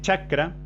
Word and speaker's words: chakra: Por ejemplo, la I, la Cha de chakra. Intenten pronunciar la palabra chakra sin pronunciarla. Es decir, cuando decimos cha, sin decirlo, ¿qué pasa? Los bordes de la lengua se posicionan sobre esta zona.